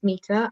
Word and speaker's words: Meeta: uk correct correct perfect can you please mate metta mita how do you pronounce meeta can you present yourself tell who you are what you do sure so uh my name is mita i am a fitness coach um i run